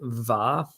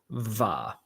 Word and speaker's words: mhath: So the second word, va. Guess how va is spelled? I don't know, with a G. Close. An M. It's MHATH. Va. Because clearly. Va. But it probably starts with the closed mouth. That's probably what the M is for.